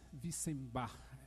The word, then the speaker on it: Wissenbach: Queria convidar também o Thomas Wissenbach. É assim que pronuncia seu sobrenome?